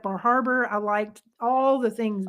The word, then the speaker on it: Bar Harbor: And I really like Bar Harbor. I liked all the things I think it's there. pronounced I Bahaba, just by the way.